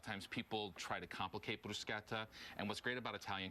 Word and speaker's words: bruschetta: and it's not pronounced bruschetta it's pronounced bruschetta you actually say the k sound and what's great about